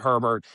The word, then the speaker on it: Herbert: was just calling him A-Bear. I think it's crazy to pronounce it Herbert, but it is A-Bear, isn't it? Well, he pronounces it Herbert.